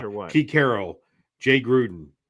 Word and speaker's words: Gruden: Gruden, Thank you. I said the name wrong.